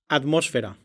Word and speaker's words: atmósfera: То есть, если вы видите букву П, Т, К в конце слога, то это не значит, что там действительно звучит П, Т, К. Там всегда звонкая фонема, которая по общему правилу произносится как аппроксимант.